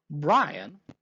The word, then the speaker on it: Bryan: Bryan, which rhymes with lion and a near homonym of lying, was known for his